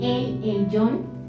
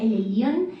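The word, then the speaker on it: Elyon: 8 15 siguiente este se escribe con y pero digamos que a veces como el nuestro español suena más un ayer entonces para qué no lo pronunciamos el lyon sino el guión lista entonces se pronuncia el guión y él significa el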